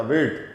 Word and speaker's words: wird: नहीं है ये, wird टा का साउंड आएगा, wird।